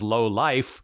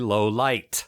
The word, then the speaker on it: Lowlight: Actually, Dial Tone pronounces his friend's name more clearly in this scene, and the guy I thought was Lowlife is actually Lowlight.